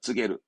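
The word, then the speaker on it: 告げる: 고하다, 알리다, 쯔게루.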